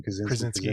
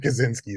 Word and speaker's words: Krasinski: Like, but you got John Krasinski, isn't that how you say his name? Krasinski, yeah. Not Kaczynski, that's a different guy.